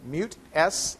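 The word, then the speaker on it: MutS: the mute l h slh system i'm sorry mute s l h that recognizes and mute by the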